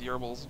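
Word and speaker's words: Goebbels: you want to pronounce I believe it's actually pronounced yerbils but they're yobbles some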